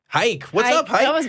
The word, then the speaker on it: Hayk: I want to say this is pronounced Hayk in California. Hayk, tell me if I'm pronouncing your name right. Hi, yeah, so it's Hayk. Hayk, what's up, Hayk?